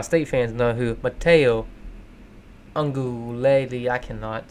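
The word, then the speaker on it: Uiagalelei: Because I know Ohio State fans know who Mateo Ungulele, I cannot say. I pronounce their name like once every 20 times. Ungulele. If you just say it fast, I think the key is just say it fast.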